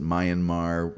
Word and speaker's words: Myanmar: That one in Myanmar, that's how I pronounce it. Some people pronounce it Myanmar.